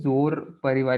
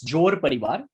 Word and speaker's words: Jor Parivar: And I also want to know what is Zor Parivar, if I'm pronouncing it right. So tell us about what it is exactly and what you're doing over there. Yeah. So it is not Z, it's Jor Parivar.